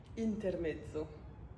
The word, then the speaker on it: Intermezzo: Intermezzo. Faut vraiment que j'arrête de le prononcer en italien parce que clairement ça a été écrit par une Irlandaise, Sally Rooney.